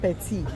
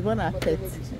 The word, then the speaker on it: bon appétit: It's not petit, eh? It's bon appétit. The way they pronounce it, petit is somebody that is small.